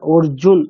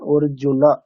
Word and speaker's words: अर्जुन: এখানে কিন্তু হসন্ত দেওয়া নেই, মানে কি একটা অকার আছে, হ্যাঁ ন হ্যাঁ। প্লাস অ, তাহলে প্রোনাউন্সিয়েশনটা কেমন হবে? অর্জুনা।